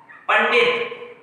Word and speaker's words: पंडित: जैसे हम बोल दें पंडित, ये हमने बोल दिया पंडित, ये इसका शुद्ध रूप है, क्योंकि इनसे पहले आधा